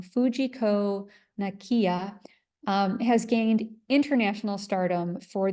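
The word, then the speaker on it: Fujiko Nakaya: And for the past 50 years, the Japanese artist Fujiko Nakija, I'm sorry, I'm pronouncing her name wrong, Fujiko Nakiya, has gained international stardom for these fabulous ephemeral sculptures made with fog.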